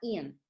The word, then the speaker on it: Aeon: Se escribe Aeon, sin embargo se llama Ian.